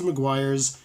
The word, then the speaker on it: Meguiar's: You want to use PlastX from a company, it looks like it's weirdly spelled, Meguiar, but it's basically Meguiar's, sorry. It's pronounced as Meguiar's, PlastX, and he suggests, no, use this stuff.